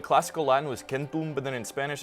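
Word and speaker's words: chentu: say 100 they say kenu which is extremely close to the classical Latin kentum. I know what you're thinking. If it's pronounced like a k then why do they spell it with a ch that makes the ch sound.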